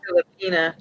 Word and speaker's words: Filipina: All right, so you're now, do you pronounce that Filipina? Filipina.